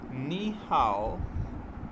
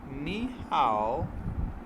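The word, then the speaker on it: 你好: अब Chinese language के अंदर इसको किस तरह से प्रोनाउंस किया जाता है जब दो लोग आपस में मुलाकात करते हैं। नी हाओ, नी हाओ, नी हाओ।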